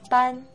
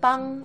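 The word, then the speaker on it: bǎn: And even though ban is spelled B-A-N, remember that it's ban, not ban, as in banning something bad.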